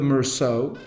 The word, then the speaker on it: Meursault: chateaus that one is Chateau Chateau de Mer so or as you might see that verso or as they would pronounce it in taxes Mears out it's isn't it's it's